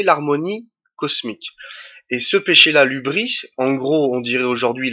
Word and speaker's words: hybris: monde grec, ça s'appelle l'hubris. Alors l'hubris, si je me trompe pas, ça s'écrit H-Y-B-R-I-S. Ça s'écrit pas comme ça se prononce.